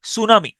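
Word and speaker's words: tsunami: বর্ণটা উচ্চারিত হয় না প্রথম বর্ণটা সাইলেন্ট যেমন সুনামি আমি এটার উচ্চারণ করি টি সুনামি টি সুনামি এইটিটা হচ্ছে সাইলেন্ট থাকে টি সুনামি টি এস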